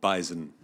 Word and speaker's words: bison: animal that is called Bison it is it does have a z I agree with the